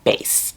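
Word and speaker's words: Béis: luggage and bag company called Bass and it's spelled B E I S.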